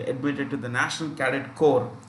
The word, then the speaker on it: Corps: to the National Cadet Corps. Remember, this is pronounced with C-O-R. Corps means body. Okay. So this P-S is silent.